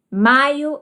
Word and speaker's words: maiô: Maio é o mês do meu casamento. Com acento circunflexo, pronúncia diferente, significado diferente, nós temos maio.